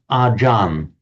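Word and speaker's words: อาจารย์: So in Thai, what they do, they often drop off the final syllable, so it becomes achar. If a Thai word ends in a r, that morphs into an n, and an intervocalic ch becomes a j. That's how it doesn't look like it on the face of it, but acharya, in Sanskrit acharya, in Pali acharya, becomes ajan in the Thai pronunciation.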